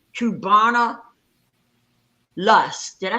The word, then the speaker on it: Cubana: up her name hold up i think it's cubana that's the name yes yes that's the name brother thank you so much that's the name kubana lust did i say it right yes and